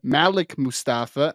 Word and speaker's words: Malik Mustafa: Number 8, I believe it's actually pronounced Malik Mustafa out of Wake Forest. Do you remember when we had Calen you're correct. Yep. Malik Mustafa out of Wake Forest, who is a very